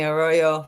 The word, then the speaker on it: Royo: Greece my neighbors here hi I'm Royo for those of you who don't know how to pronounce my last name uh in Bulgaria I